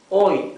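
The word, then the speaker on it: hoy: be exactly like this oi for today oi also mute H here the H is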